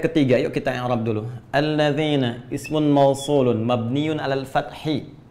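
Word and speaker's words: الَّذِينَ: Karena itu dibacanya alladzina. Kita tidak baca alladzinu enggak ada alladzini selalu na mabni tetap dalam harakat ini.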